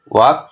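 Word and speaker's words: walk: খেয়াল রাখবা এই সূত্রটা এল কে এর পূর্বে যদি ইউ বা ই না থাকে তাহলে এর উচ্চারণ হবে ক এল কে এর উচ্চারণ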